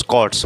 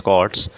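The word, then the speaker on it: cohorts: यहां पर इसके बाद है च्स कॉर्ट्स बोलेंगे। एच साइलेंट रहेगा। सी ओ एच ओ आर टी एस कॉर्ट्स।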